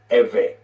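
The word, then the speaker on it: עברי: you will spell this IV RI and is pronounced every so the text will read Genesis 14 and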